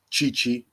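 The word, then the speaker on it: Tite: southgate with england that is echoed with brazil chichi t-i-t-e for everyone t-i-t-e but pronounced chi chi india in in brazil everybody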